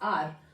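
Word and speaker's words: our: आर कुछ लोग आवर भी बोलते हैं। ठीक है? इट्स आर।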